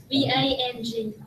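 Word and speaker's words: vâng: V-A-N-G.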